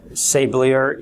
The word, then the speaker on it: Sablier: I will call it say blur even though that that's the very Americanized westernized version this is actually a French word which I believe is